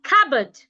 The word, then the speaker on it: cupboard: We have cupboard, not cupboard or cupboard, cupboard, cupboard. The P is silent, so do not pronounce the P.